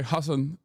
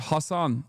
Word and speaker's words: Hasan: That's why I said like when people say hass uh it's not the correct inter correct pronunciation but I still appreciate